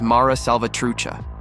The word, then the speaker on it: Mara Salvatrucha: groups in the world and its name is pronounced as Mara salvatrucha so if you meet someone with huge tattoos